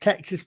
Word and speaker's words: Texas: I know it's pronounced Texas because the Americans won.